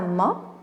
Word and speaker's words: mât: Un mât. Voilà, donc on ne prononce pas le T.